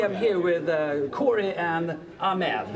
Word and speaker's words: Ahmed: here with Corey and ahed yes I pronounced that correctly that is correct that's good thank you